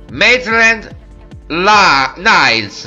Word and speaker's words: Maitland-Niles: violi questo giocatore adesso vi faccio vedere come pronuncia mai trend la nails metri and nice hand on line mednet nines